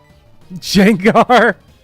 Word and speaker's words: Gengar: Jenga. Jengar. Like Jenga.